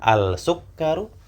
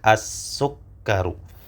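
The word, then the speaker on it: السكر: Apakah al-sukkaru? Nah, ternyata jawabannya adalah ya. Lam yang disukun tidak terbaca. As-sukkaru.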